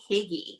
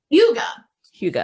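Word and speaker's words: hygge: that the huga hugo h-y-g-g-e i called it higgy until i looked up for this show how to actually pronounce it it's called yoga hugo and you know there's no direct translation but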